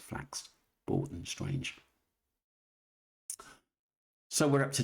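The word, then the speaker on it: Flax Bourton: For someone who knows the Brisbia well, she was pronounced Flax Borton. Flax Borton. Sorry. Anybody that lives in here knows that is pronounced flax bordon strange.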